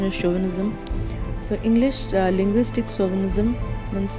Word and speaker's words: chauvinism: is pronounced, people used to pronounce it as chauvinism, but the pronunciation is chauvinism.